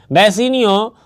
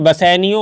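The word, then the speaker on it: Bassanio: इसका प्रोनाउंसिएशन में थोड़ा सा इधर उधर बसेनियो होता है, मैं फिर से याद करा दूँ।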